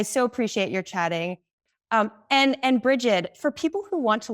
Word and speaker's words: Brigid: Being, and then my name is spelled Brigid, like rigid with a B at the front of it.